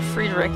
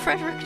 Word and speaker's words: Frederick: That explains why Friedrich, I keep wanting to say Friedrich after like the sound of music. Why Frederick tolerates all the teasing, eh?